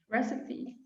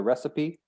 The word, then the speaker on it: recipe: the vowel sounds it looks like it should be recip or recycle um but again it might be one of those words that comes from another language and we almost always keep the original pronunciation if it does come from another language and yeah it's called recipe recipe okay cooks she